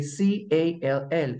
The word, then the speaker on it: call: El verbo llamar se escribe C-A-L-L, C-A-L-L, pero se dice call, lleva la A, pero aquí sonó como O, como muestra eso.